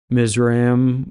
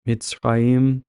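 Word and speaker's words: Mizraim: have the next sun which is mim which is better pronounced mitzraim and this is actually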